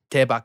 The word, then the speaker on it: Daebak: It's just an outro to the Daebak Show. Okay. How is it pronounced again? Daebak. Daebak. D-A-E. Daebak. Yeah, there you go.